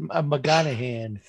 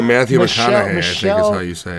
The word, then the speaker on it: Matthew McConaughey: is not matt no i said i said mcgonahan he's trying to say matthew mcconaughey michelle monaghan there you